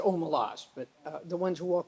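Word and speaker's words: Omelas: this is I would I pronounce it OMA laws but the ones who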